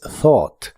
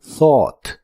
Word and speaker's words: thought: El grupo de letras ugh no se pronuncian en esta palabra y la o de en medio sí se pronuncia de manera profunda. Thought.